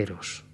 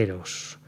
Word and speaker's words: Eros: adefa de esa manera empieza por sílaba tónica es una palabra llana eros es una vocal